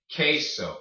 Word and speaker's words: queso: Queso. Aquel. All right. So when you have the Q-U-E, it makes a K noise, like queso, aquel.